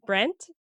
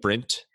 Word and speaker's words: Brent: very annoying yeah so i say my husband's name wrong his name is i can't say it brent but it sounds like i'm saying it with an i there's an e like print yeah that's how i